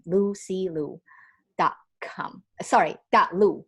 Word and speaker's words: Lusea: hesitated lucy so my my name is spelled as l-u-s-e-a lucy like the ocean lucy lou dot-com sorry got